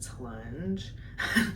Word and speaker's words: Tlunge: The second one we have, his name is Tlunge. At least that's how I pronounce it.